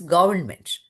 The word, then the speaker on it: government: So it is R is not pronounced. It's government.